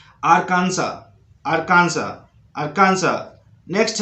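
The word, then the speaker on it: Arkansas: उसके बाद जो है इसको बोलते हैं आरकांसा, आरकांसा, आरकांसा। नेक्स्ट है इलिनॉय, इलिनॉय, इलिनॉय। तो यहां पर एस साइलेंट है।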